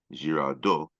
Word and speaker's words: Girardot: You spell his last name, by the way, Girardot, Girardot. Do not pronounce the T if I'm not mistaken.